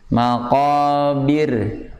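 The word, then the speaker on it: الْمَقَابِر: Yang ayat kedua dibaca tarqiq atau tipis, maqabir. Nah, maqabir, tapi nggak boleh begini, maqabir, bir. Itu kebanyakan. Maqabir, bir itu kebanyakan, tapi maqabir, bir.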